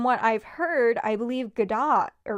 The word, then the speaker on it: Godot: But from what I've heard, I believe Godot, that's how people don't pronounce the T.